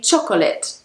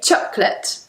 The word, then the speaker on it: chocolate: I hear many people saying chocolate or chocolate. Choco. Choco. But we say chocolate. Chocolate. So, it's just two syllables.